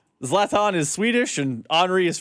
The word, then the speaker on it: Zlatan: How do you pronounce his name again? Zlatan.